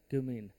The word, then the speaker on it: cumene: Spelling बोल दे। CUMENE। क्यूमीन।